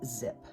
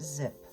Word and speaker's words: Xyp: Our second tangle is zip. XYP is how it's spelled, but it's pronounced zip.